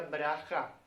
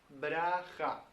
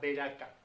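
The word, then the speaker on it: ברכה: En hebreo se pronuncia braja. Braja. Lo tenemos transliterado al español como una ciudad, que en la Biblia se le llama Beraka.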